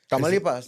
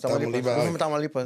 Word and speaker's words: Tamaulipas: Tamaulipas. Tamaulipas.